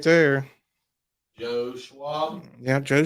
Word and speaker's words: Schwab: up on Facebook my name's right there Joe Schwab yeah Joe Schwab I mean there you go s-c-h-w Charles Schwab